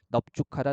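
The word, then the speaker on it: 넓죽하다: 어떨 때 죽하다 둥글다와 결합했을 때는 이때는 넙으로 발음한다라는 그래서 넙죽하다 넙둥글다 이렇게 되는 거죠.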